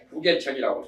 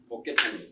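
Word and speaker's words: 복개천: 복계천도 부계천이라고 해요. 부계라고 해야 맞는데 덮을 부거든요. 전복한다고 할 때는 복이고, 덮는다고 할 때는 부래요. 발음이. 세상 사람들이 발음을 잘못 읽어가지고 복계천으로 돼야 돼요.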